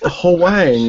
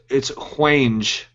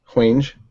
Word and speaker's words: Hwange: It's Hwang, which sounds Asian. I'm sure it's pronounced different than Hwang. Like Vanjay, and there's clicks and I don't know. It's Hwange. Hwange.